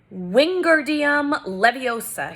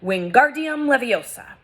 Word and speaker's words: Wingardium Leviosa: having much more luck Wingardium Leviosa he shouted waving his long arms like a windmill you're saying it wrong Harry heard Hermione's snap its Wingardium Leviosa making the GAR nice and long you do it then